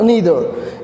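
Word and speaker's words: neither: British pronunciation के according जो है इसको आप आइदर नाइदर पढ़ोगे, लेकिन अमेरिकन प्रोनाउंसिएशन के अकॉर्डिंग जो है आप इसको ईदर और नीदर भी पढ़ सकते हो।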